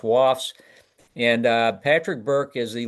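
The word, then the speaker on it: WoFS: The acronym is pronounced WAFS.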